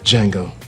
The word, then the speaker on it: Django: Django. Can you spell it? D-J-A-N-G-O. The D is silent.